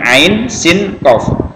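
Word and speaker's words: عسق: insiden dan kok ya ini penyebutannya Ain Sin qof Ain Sin qof ingat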